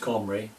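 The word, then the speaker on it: Cymry: king of samaria and celtic comrades still pronounced comri they came as farmers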